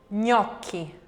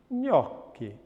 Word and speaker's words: gnocchi: What about then if we go pre-palatal and we get that feeling of ny, ny, ny? That's also pre-palatal nasal voiced. Pre-palatal nasal voiced is ny. For example, gnocchi, gnocchi.